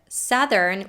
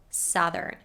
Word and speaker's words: southern: with an ow diphthong but with the word southern we pronounce it with a short u sound southern south southern for our children's children